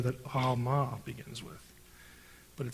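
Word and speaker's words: עלמה: Now, in Hebrew, it's Alma. The letter is pronounced in the back of the throat, and that's why it gets transliterated sometimes with a G in certain books, like Gomorrah.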